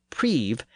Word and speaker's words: preve: and that suggests that he pronounced the word preve as prev, and given as Gavin.